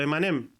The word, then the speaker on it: Eminem: origen del nombre pero se pronuncia a mí me sonaba homófono a los dulces a los emanem Entonces cuando la gente